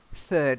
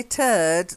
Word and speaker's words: third: pretty good for me yeah so third that's better is if you say turd that's another name for a poo okay so you really want to get that one right there's your incentive to practice the softer sound okay third so third